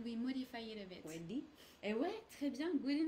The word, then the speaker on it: jeudi: I heard a bit of an U in je. Oh, je. Ouais, It's actually je. it's the same. So these guys are the same pronunciation as je.